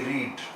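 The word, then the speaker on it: read: जैसे दिखते हैं जैसे आर ई ए डी रीड रीड यानी पढ़ना सेकंड फॉर्म है रेड आई रेड a book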